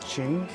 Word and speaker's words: Qing: I'm not sure how to pronounce it. It's Qing. I think it might be pronounced Qing.